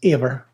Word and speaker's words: Eber: So Eber, in our English text, pronounced Aver.